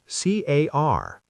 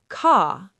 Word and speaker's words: car: In British English, we often don't pronounce R at the end of words or before consonants. Car. C A R. British car. American car with a strong R.